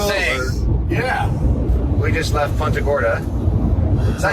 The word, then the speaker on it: Punta Gorda: We just left Punta Gorda. Is that how you say it? It's Punt? It's actually Punta Gorda.